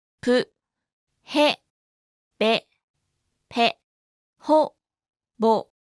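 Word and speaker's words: ボ: Ho with a dakten is pronounced bo, ho, bo, ho, bo.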